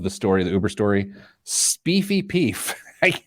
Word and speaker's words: Speefy Peef: It is, of the story, the Uber story, Speefy Peef. I got to quit saying that. Sounds dirty. Spelled like it sounds.